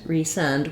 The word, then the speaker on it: resend: So I have resend with clear F vowel and length, but in recent, it's almost like I don't say that vowel in the second syllable at all.